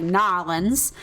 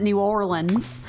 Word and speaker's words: New Orleans: from New Orleans and she pronounces it like nans and I'm from Georgia and I pronounce it New Orleans and I'm like oh